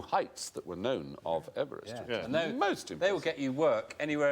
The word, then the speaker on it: Everest: because he didn't pronounce his name Everest he pronounced it Everest Everest Everest should be M George Everest George